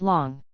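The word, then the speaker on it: 龍: equal to 1/3 meter the character for Dragon this character is pronounced long 2011 the L Kang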